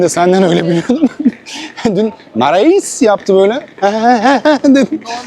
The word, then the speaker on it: Marais: Bu Lömare nasıl okunuyor? Mare. L. Ben abi dün Heyfel'den dönerken o küçük şeyler var ya böyle bisiklet tarzı onlara sordum. Dedim Lamara'ya gideceğim anlamadı. Sonra Marais yaptı. Hangisi doğru? Marais.